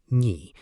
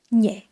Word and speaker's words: nhỉ: In natural speech, you will often hear locals pronounce it as nhẹ or nhờ.